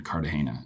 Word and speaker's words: Cartagena: And then uh the last week we got to go shoot one thing down in Cardahana and that was unbelievable.